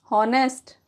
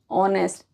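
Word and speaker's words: honest: और इसको हॉनेस्ट? नहीं, ऑनेस्ट। इस वीडियो में मैं आपको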